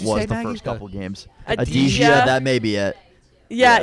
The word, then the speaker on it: Adzija: No, there's a lot of silent letters in there.